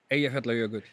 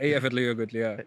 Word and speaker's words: Eyjafjallajökull: Like, how do you pronounce it? Eyjafjallajökull.